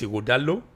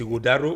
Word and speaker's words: Igodalo: Esa is Igodalo. Benin is Igodaro. We also Igodaro. Yeah. Mother tongue. It's Igodalo.